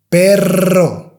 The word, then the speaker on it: perro: So, and carro, carro, carro, carro, perro, perro, perro, perro. So I hope that helps. Now, if you can't pronounce this sound, even though you've done everything,